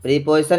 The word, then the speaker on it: preposition: तो ये प्रीपोजिशन जो होता है इसको हम प्रीपोजिशन नहीं पढ़ेंगे बच्चों, इसका प्रोनाउंसिएशन जो साउंड होता है प्रे होता है, प्रे, PREY, प्रे। तो इसलिए हम इसको प्रेपोजिशन कहते हैं।